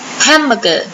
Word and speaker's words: hamburger: ๆ กัน นะ คะ h a m b u r g e r Hamburger เน้น หนัก ที่ พยางค แรก นะ คะ คำ ว่า แม